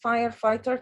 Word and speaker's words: firefighter: h in the middle we don't pronounce them but we have to write them okay that's really good